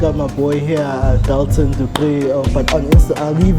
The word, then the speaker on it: Du Preez: I'm sitting here with Dalton Du Preez.